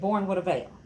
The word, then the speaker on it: Born with a Veil: It looks like Born with Veil. It's not. I'm part Italian. So you say it Born with a Veil. Born with a Veil. You got to put that spunk into it, okay?